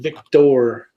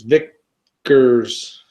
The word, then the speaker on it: Vickers: I did that on a Vickers. I said Victor. And it seems like every time somebody comments, it's Vickers.